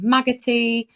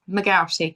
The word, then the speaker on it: McGarty: God over the years I've been called magotti uh McCartney lots of things so yeah but it's it's mcari in the I mean